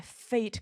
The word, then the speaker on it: fate: 是 Give me my fate guy，就是 fate 命运，赐我真命天子。但是这 e 它放到结尾的不发音，我就给